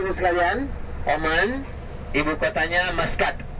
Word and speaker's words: Muscat: Bapak Ibu sekalian, Oman ibu kotanya Maskat, tulisannya Muscat, bacanya Maskat.